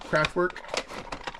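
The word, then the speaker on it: Kraftwerk: It's not work. It's like, is it right here? W-E-R-K, work, kind of like work, craft work, but not quite.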